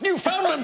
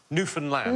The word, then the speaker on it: Newfoundland: I think he said, oh, I did that murder in Newfoundland. No, it's Newfoundland! But actually, both men were right, because at the time, both pronunciations were perfectly acceptable. It's only fairly recently that people have gone a bit... And what is it now? Without looking? Newfoundland. Newfoundland?